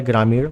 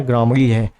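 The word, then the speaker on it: ग्रामणी: अब आपसे हो सकता है आ जाए ग्रामीण, तो आप ग्रामरी टिक लगा दोगे, जबकि गलत है। ग्रामरी अच्छे से ध्यान दे देना, प्रोनाउंसिएशन अच्छे से पढ़ लेना। ग्रामरी है, वैदिक काल में गांव का मुखिया ग्रामरी कहलाता था।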